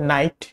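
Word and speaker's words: knight: যেমন উদাহরণ হিসেবে নাইট, এখানে কিন্তু কেটা সাইলেন্ট আছে, কেটা উচ্চারণ হয় না নাইটে।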